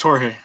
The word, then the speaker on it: Jorge: Am I pronouncing your name wrong? I was pronouncing it. What was I said George. Is it Jorge? Is it? Yeah, it's Jorge.